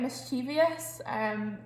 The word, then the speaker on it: mischievous: So I would say mischievous. But it's actually mischievous if you look at the word.